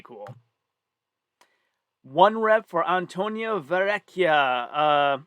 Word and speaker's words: Verrecchia: One rep for Antonia Verrecchia. Well, if she were Italian, that's how you would pronounce it.